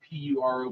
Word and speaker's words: puro: asking for those cigars, it is spelled Puro, but you can make it sound like puro, right? But now, you don't really roll that R.